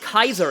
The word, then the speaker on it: Caesar: Um, yeah, Caesar is pronounced Kaiser in Japanese.